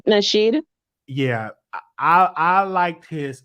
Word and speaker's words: Nasheed: like this man name Tariq Nashir. Did I say his name right? Tariq Nasheed.